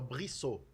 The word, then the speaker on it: Brissot: Então o grande nome dos girondinos é o brissô. Brissot. Brissote que se escreve.